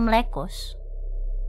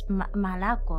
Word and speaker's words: молоко: It's not Mlekos. It's Malako, apparently.